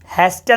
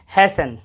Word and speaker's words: hasten: हैस्टन नहीं पढ़ेंगे, हैसन।